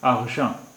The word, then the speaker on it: argent: एक ही है और देखिए यहाँ पर टी साइलेंट है, टी का उच्चारण नहीं हो रहा है। argent argent रुपहला।